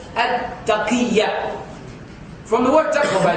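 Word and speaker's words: تقية: Some people call it tuqya, but I asked one of the ulama who's experienced in this field. He said the correct actual pronunciation is at-taqiyya.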